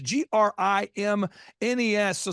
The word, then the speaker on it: Grimnes: If you add an S, you will pronounce it correctly. Yeah. So think of it. My dad would say, think of it as like, don't say this, Dad. He's like, think of it as like the grimness of the situation.